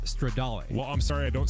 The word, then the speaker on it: Stradale: the Ferrari SF90 Straddale. I think it's pronounced Stradale.